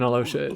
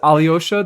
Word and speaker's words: Alyosha: closer to Aino than Alosha is. No, it is. It is Alyosha. The VAs just can't pronounce the names.